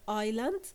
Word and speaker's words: island: words we have here the word Island in Island we have a silent s and we have the